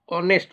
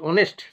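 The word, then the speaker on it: honest: ম্যান এখানেও দেখটা হচ্ছে silent H এইচ এর উচ্চারণ হয় না হবে অনেস্ট ও এনস্ট অনেস্ট সেজন্য অনেস্টের আগে হবে অনেস্ট ম্যান আচ্ছা ই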